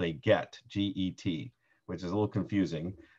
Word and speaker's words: get: that's called a get g-e-t which is a little confusing but the hebrew word is gimel tet and um it it's pronounced get in english sounds like an english word but it's not so a get is a